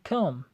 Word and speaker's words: calm: calm دوستانو په دې کې د ال نه تلفظ کېږي. تلفظ هغه شی calm.